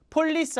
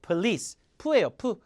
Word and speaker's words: police: on tv tv 봤다 경찰이 바 폴리스 아니고 police예요 포가 아니라 왜 강세가 뒤어 가니까서 raing a bar 쳤다